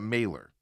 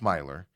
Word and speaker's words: Myler: It's spelled as you want to say it, Mailer, but it's Myler.